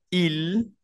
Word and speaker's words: il: entonces se pronuncia tu luego él ella se pronuncia IL IL y ella se pronuncia el el IL